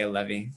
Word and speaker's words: Allevi: back and forth but we add the accent on it and for whatever reason we say a levy even though it comes